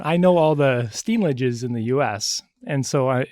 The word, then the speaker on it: Steenlage: It's actually, we pronounce it Steenlage. Steenlage.